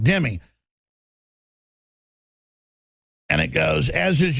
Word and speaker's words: dhimmi: So my dad, who's a big history buff, he goes, shimmy means protected in Arabic, dhimmi, pronounced dhimmi.